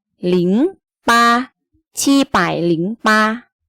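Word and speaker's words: 零: สี แดง ๆ นี้ นะ คะ อ่าน ว่า หลิง หลิง นะ คะ แบบ นี้ ใคร เดี๋ยว ซื้อ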